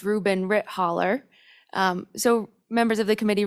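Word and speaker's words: Reuben Ritthaler: like to present um mr rubin ritt healer if i'm pronouncing that correctly yes madam chair and i believe it's reuben rit holler so members of the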